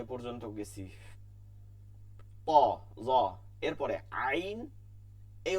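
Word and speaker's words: عين: করে তো যাই হোক যে পর্যন্ত গেছি এরপরে আইন এই উচ্চারণটা একটু জটিল এটা আমাদের আরবিতে করতে হবে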